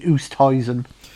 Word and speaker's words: Oosthuizen: Having worked with a lot of lads from South Africa, it will be Oosthuizen.